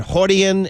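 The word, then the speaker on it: Rorion: They all start with an R, but they're pronounced with an H. Hoist Gracie. Hoist and Hodian and all those guys.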